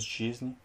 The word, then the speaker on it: жизни: Après le G, quand tu as un I, tu dois le prononcer comme si c'était un U. Donc, c'est pas жизни, mais c'est жизни.